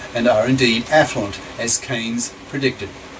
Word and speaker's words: Keynes: most famous 20th century economist John Maynard Keynes pronounced Keynes made this prediction ironically in the middle of